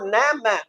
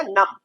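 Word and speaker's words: numb: से बन गया अ, और ये बी साइलेंट, तो नम, ये हो गया नम।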